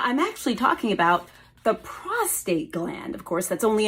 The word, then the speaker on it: prostate: only in men but so many people actually call it the prostrate with an R well guys it doesn't have an r in it no R in this word today we are talking